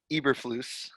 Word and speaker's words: Matt Eberflus: had to stack correct your colts defensive coordinator pronunciation i knew this was matt eberflus hebrew get it right edward everett flaus ever